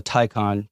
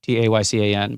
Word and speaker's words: Taycan: Porsche makes an electric car called the Taycan, Taycan, but they pronounce it Taycan.